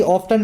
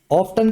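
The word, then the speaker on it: often: ऑप्टन का मतलब होता है बार-बार फ्रीक्वेंटली। इसको ऑफन भी बोलते हैं। बीच का टी साइलेंट भी होता है। ठीक है ना? ब्रिटिश लोग इसको ऑफन बोल देते हैं।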